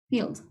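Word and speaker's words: filled: el pasado sería Field le pronuncian solo la d Field en presente También tenemos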